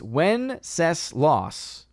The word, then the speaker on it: Wenceslas: All right, here is the pronunciation of the saint's name. It's Wenceslas.